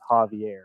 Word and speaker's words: Javier: His name is and I think they mean Xavier here, not Javier, but it is Javier.